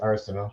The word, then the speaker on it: Arsenault: How do you pronounce that in PEI? It's just Arsenal.